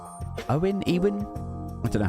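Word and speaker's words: Éowyn: a little bit um Jim says it's pronounced aowin okay um I noticed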